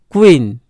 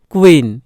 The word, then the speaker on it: queen: আবার কিউ এর উচ্চারণ কয় বয় যুক্ত ক এবং বয়ের যুক্ত ক্ব, ক্ব উচ্চারণ হয়, ক্ব। যেমন দেখো কুইন, কুইন, QUEEN কুইন, কুইন।